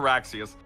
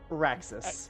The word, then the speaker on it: Raxus: Is it Raxus or Raxius? Raxus. Yes. Raxus.